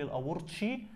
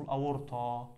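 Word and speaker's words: الأورطة: اللي هو الشريان الاورطه ما حدش يقول لي الاورطي لان ما فيش حاجه اسمها الاورطي اسمه الاورطه ولو سمعتوا الاجانب وهما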